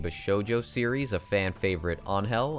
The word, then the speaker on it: Angel: series, a fan favorite, Angel. I believe that's how you pronounce it, not Angel.